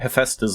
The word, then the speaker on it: Hephaestus: watched other people and no one has pronounced it Hephaestus like I do. But turns out I am right, everyone else is wrong, I'm the best.